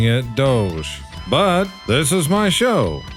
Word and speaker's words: DOGE: And to address some comments that I've received recently, yes, I know that they are pronouncing it Doge, but this is my show and I'm going to pronounce it Dodge because that's just easier to say.